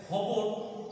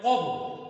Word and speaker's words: খবর: যেমন কোনো কোনো জায়গাতে খবর এই শব্দটার উচ্চারণ করে কবর, আবার আবার কবর এই শব্দের উচ্চারণ করে খবর, কারণ আঞ্চলিকভাবে আমরা এইভাবে উচ্চারণ করে অভ্যস্ত।